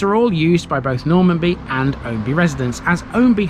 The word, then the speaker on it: Normanby: differently given its etymology normanbee is theoretically the correct way but this is lincolnshire we're not a simple bunch locals call this normby effectively reversing the a and the m in the name it even has variations